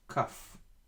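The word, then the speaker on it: כּ: Now, in this letter, whenever we have the dot inside it, it is pronounced as K, like K in English. K, kaf, with the dot. Without the dot, it is chaf, just like chet. Ch. The pronunciation is similar to the letter chet we just learned in the previous lesson. Ch, chaf, k, kaf.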